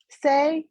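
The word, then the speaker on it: Sai: are yes hello everybody my name is say although it smells like C it pronounces say uh I recently moved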